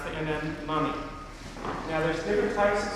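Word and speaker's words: momme: is like millimeter 8 and n and you pronounce the mm mummy now there's different types of soaps out there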